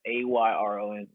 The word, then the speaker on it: Ayron: It's phonetically it's spelled how it's said, Ayron.